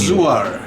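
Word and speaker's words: Gëzuar: Zuar.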